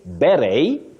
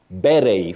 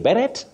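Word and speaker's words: beret: silent you can say ber ber for that round flat cup you say ber or ber the two are acceptable ber ber but avoid saying berrett and don't say Barrett that one is wrong otherwise when you want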